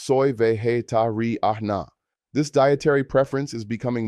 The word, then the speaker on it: vegetariana: If you are female, say soy vegetariana, pronounced soy vegetariana.